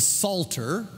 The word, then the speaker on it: Psalter: the Psalms together are called the Psalter spelled with a p like Psalm the Psalter and it